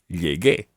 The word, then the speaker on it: llegué: So to make the G into a hard G sound, even though it's got to be followed by the E, you add in a U. It's a silent U, so it becomes llegué.